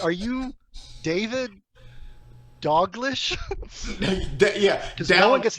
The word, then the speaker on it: Dalglish: Yeah, it's the L. The L's not where the L should be. LGL throws people off all the time.